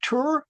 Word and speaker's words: Ture: Uh people say, "Well, how do you pronounce that?" Is that Tur? Well, it's like huray with a T.